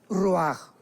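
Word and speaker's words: ruach: parte espiritual que es la palabra ruajach, que se pronuncia roaj.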